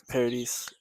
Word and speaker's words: Paradis: Paradis. You can Paradis. you can say like paradise, but because like it's like paradis means heaven in French.